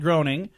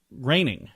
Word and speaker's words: Groening: has said yes to Matt Groening and I guess it's raining is how you say it he's the guy that